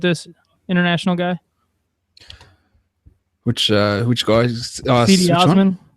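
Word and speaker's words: Cedi Osman: Cleveland Cavaliers, they took C.D. Osman from Anadolu. You want to help out with this international guy? Which guy? C.D. Osman. I heard it. Sede Osman. Yeah, I heard that. Yeah, Sede Osman.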